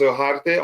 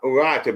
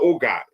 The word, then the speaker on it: Ugarte: It's pronounced Ugarte or Ugarte, but it's not Uga.